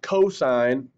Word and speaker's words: cosine: says c o s cos which actually is pronounced cosine d okay cosine of letter d is car